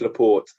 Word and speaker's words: Laporte: No, it's Laporte. I'm pretty sure.